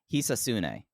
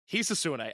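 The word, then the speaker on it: Hisatsune: To my understanding, it's pronounced Hisasune. Hisasune. All right, we're going to give that a shot. So the June 8th, 1993 Observer, Universal President Hisasune Shinma announced at his group's 6-4 card at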